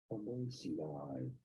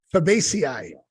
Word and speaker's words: Fabaceae: There's two different ways of saying it. Fabaceae. Fabaceae.